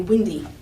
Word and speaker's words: Windy: And I hope you agree with me that if we were to clap a syllable on windy, I'll put the syllable boundaries there just for fun. Windy, hope you agree, it's strong, weak syllables.